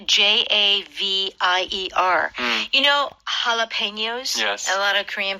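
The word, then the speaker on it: jalapeños: You know jalapenos? Yes. A lot of Korean people like jalapenos. Yeah. And that is also spelled with a J. So in Spanish, J is that sound.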